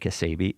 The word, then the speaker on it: Cassabi: Now you might say that doesn't look like Cassabi. It doesn't but that's how you say it.